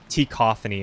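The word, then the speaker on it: T-Cacophony: name of t uh t cophany it's spelled t and then space or no t and then dash and then cacophony and uh he has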